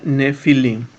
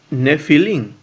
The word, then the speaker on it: nefilim: Que suena nefilim, ¿no? Esta es una estructura ifil. Y se pronuncia nefilim, ¿no?